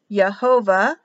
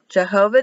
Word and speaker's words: Jehovah: Jehovah, Y-E-H. Now this shouldn't be a V, it should actually just be an O, A-H. So really, if you pronounced it correctly, it would be Yo,